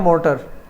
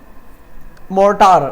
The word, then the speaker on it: mortar: ये वही अपना जो पेस्टल नहीं है वही वाली स्पेलिंग है। और ये कहलाता है मोटर, पेस्टल और मोटर, मोर्टार, sorry MORTAR मोर्टार।